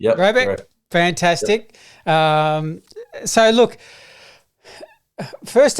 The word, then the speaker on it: Robey: Now I want to make sure too is am I pronunciation's right? Is it Robi? Robi. Yeah, Robi.